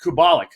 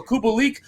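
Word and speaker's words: Kubalík: purr on cop prawn specifically has really helped kubolik uh kubalik sorry uh a guy that you know we're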